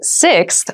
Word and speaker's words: sixth: sixth sixth sixth so sixth refers to the number six of something this is a really good word to practice some pronunciation slow down that six that middle part there the sixth book